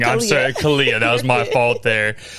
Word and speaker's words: Khalliah: Kala, did I say your name wrong? I'm sorry. Kala, that was my fault there.